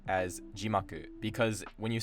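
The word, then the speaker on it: 字幕: Like I used to constantly make the mistake of saying jimaku as jimaku, because when you say eigo jimaku or nihongo jimaku, it actually drops after ji.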